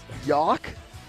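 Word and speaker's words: Jauch: your last name is y-o-w-k yeah but it's spelled with the J I think it's j-a-u-c-h correct Riley yes it is yok Riley yawk yoke that's the most interesting thing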